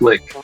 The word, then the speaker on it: lich: That's pronounced lick, not lich.